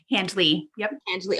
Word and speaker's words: Handley: pronounce the D right Handley oh you do pronounce the D and so because we